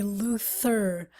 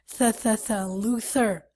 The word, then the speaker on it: Luther: Okay, Luther. Again, guys, we have the TH, and so we have to pronounce it as Luther.